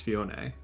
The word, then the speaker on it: Phione: when you were saying Phione. I have only ever heard it pronounced Fione, but Oh, I'd never heard that.